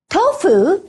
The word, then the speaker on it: tofu: the H sound remember although fu is transcribed with the letter F fu is not pronounced with the sound who who so tofu is really pronounced like to to there are also exceptions